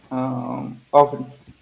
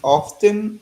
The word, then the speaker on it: often: what word you said often what is the correct pronunciation is often or often you will hear both juan i mean of course the proper way to say it is to enunciate the t it's like in spanish